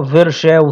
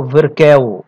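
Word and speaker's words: Virchow: ركز بقى في حاجه اسمها فيركاو ترياد، في ناس بتنطق فيرشاو ترياد وفي ناس كتير بتنطق فيركاو يعني سي اتش تنطق كي، بغض النظر ان هو الفيركاو ترياد.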